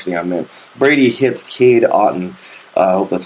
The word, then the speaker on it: Kade Otten: walk off touch thing I'm in Brady hits Kade Otten uh that's how you pronounce his name o-t-t-o-n one duck shot one